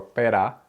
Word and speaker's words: pera: and it's relatively straightforward when the r Falls between two vowels as in Corazon or Pera that R is just a quick little tap it's not rolled not drilled when the r comes